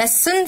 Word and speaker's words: listen: الأفعال دي لازم نحفظها كتابة، فنقول listen فيها t silent، look يبص، read يقرأ، write فيها w silent وبتتنطق write يعني يكتب، sleep ينام، sing يغني،